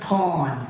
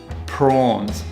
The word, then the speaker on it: prawns: Yeah, I'd like 5 kilos of porn. Son, I think you're in the wrong shop. In this situation, Pronunciation Panda wanted to say prawns, not porn, which is short for pornography.